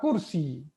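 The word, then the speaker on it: كرسي: Now, as I mentioned yesterday, you are not supposed to pronounce the sign of the last letter. Okay, actually, that's the rule of Arabic, that you don't pronounce the sign of the last letter. So ideally, how you will say ahada sarir, that's how you will say. And the answer also will be la hada kursi.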